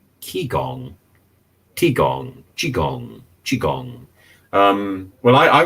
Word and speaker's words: Qigong: But I think she was also wrong with her T-gong. And Anthony is saying it's spelled Qigong, T-gong, Qigong, Qigong.